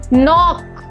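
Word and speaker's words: knock: के का रूल है द लेटर के is always silent when it is proceed the letter N इन a word अगर कोई भी वर्ड में के के के बाद अगर एन आ जाएगा तो उसको हमेशा के को हम साइलेंट प्रोनाउंस करेंगे अगर के के बाद एन वर्ड आ रहा है तो जैसे इसको प्रोनाउंस करेंगे नो नॉक नाइफ नाइट जो के के साउंड है वो साइलेंट हो जाएंगे और बाकी को नॉर्मली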